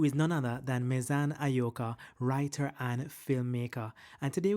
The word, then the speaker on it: Ayoka: Mezan, I always pronounce your second name Ayoka. How do you pronounce it? That's it. Is Ayoka.